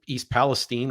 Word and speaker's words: East Palestine: is the borderline between Pennsylvania and Ohio the East Palestine which by the way is how it's pronounced I've been Ohio my whole life and